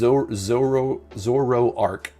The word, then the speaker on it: Zoroark: So I would definitely say Zoroark. Is that how you say it? It's Zoroark is how it...